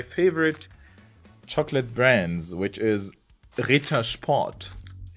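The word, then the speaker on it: Ritter Sport: chocolate brands which is Rita spot Rita spot and by the way the word Rita means denied in English and who didn't like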